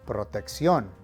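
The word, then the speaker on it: protección: means protection over here you need to make sure that you put the emphasis on the last syllable proteccion check salmo noventa you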